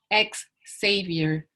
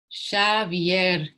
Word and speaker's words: Xavier: People comment on his accent, mispronounce his name, call him ex-savior, as if he had fallen from grace and could not be redeemed. Xavier, he says over and over. It's Basque. But they think Basque is a painter.